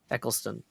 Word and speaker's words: Eccleston: I always get yelled at for saying his name wrong, so I'm just like... Christopher Eccleston. Eccleston.